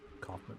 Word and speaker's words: Kaufman: Kaufman is how you say that.